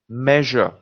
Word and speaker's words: measure: Measure. Now you'll tell me, sir, but measure we pronounce correctly. No, the reason we're highlighting measure is because in Hindi or our native language, we don't have zh.